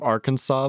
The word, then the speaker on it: Arkansas: these at least does the pronunciation of Arkansas make sense for that matter if you real if you replace the last s with a W it makes sense I like dubian to